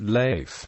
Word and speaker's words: Leif: river around this time frustrated by Americans who pronounced his name leaf instead of life he started calling himself